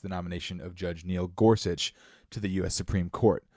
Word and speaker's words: Gorsuch: Neil Gorsuch? What were you saying? In my mind, I call him Neil Grosh.